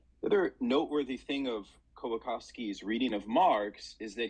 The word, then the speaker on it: Kołakowski: So Leszek Kołakowski. Sorry, the W it actually is to be pronounced with a V.